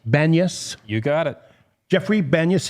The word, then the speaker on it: Banyas: Banas. Banas.